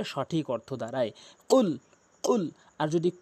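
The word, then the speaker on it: قل: হলো সঠিক অর্থ হলো কুল হে রাসূল আপনি বলে দিন কফটি এই কফটি জিহ্বার গোড়া উপরে তালু থেকে উচ্চারণ করলে সঠিক অর্থ দাড়ায় কুল আর যদি কুল বলেন তাহলে হবে না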